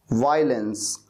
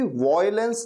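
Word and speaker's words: violence: वायलेंस, वायलेंस, इसे कभी भी वॉयलेंस नहीं कहना, वॉयलेंस नहीं बल्कि वायलेंस।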